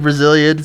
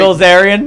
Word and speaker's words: Bilzerian: next door to Dan Brazilian. So it's like that doesn't make. Did I say his name right? Bilzerian. Yeah, Dan Brazilian. Bilzerian.